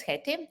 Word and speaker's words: Hetti: so my name is heti my last name is long and unpronounced so i'm always saying there is one hate in postgres and please call me haiti uh so i uh